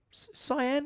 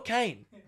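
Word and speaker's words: Cian: Is that how I pronounce his name, Cyan? Cat? Well, you put an I before the A. That's how you spell Kane.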